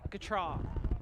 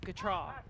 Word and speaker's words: Gautrat: She even tweeted it, her and her husband, saying Gautrat, Gautrat, Gautrat. So that is how you say it. Yeah. Or at least that's how they say it.